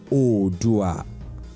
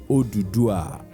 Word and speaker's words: Oduduwa: Oduduwa, which can equally be pronounced as Odua, Oduduwa, or Odua, is today a respected hero, warrior, leader, and father of the Yoruba race. Oduduwa is praised as Olofin Adimula, Olofin Aye, and Olufe.